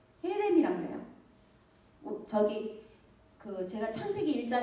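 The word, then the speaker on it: חרם: 근데 한글로는 같이 해라고 쓰지만 원래는 이걸 발음할 때 약간 가래 끓는 것처럼 이렇게 해야 돼요. 근데 이제 그걸 우리말로 어떻게 쓸 그 방법이 그렇다고 케렘 그런 건 아니거든요.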